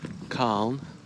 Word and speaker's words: Calne: in an old town khan it's spelled c-a-l-n-e in wheelchair in england